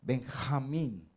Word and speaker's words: Benjamín: muy grandote benjamín y nosotros lo pronunciamos la j benjamín en inglés personas no pueden pronunciar la jota y dicen ven a mí si cuenten si